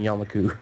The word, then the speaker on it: Yamaku: Oh, I thought you were allowing me saying Yamaku. No, you said it right.